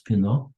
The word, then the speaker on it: Pinot: I pronounced that as Pinot, just like wine.